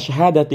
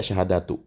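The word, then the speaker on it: شهادةِ: Karena syahadati ini adalah 1 dari 5. Ya, makanya dibacanya syahadati, tidak syahadatu. Ya kan?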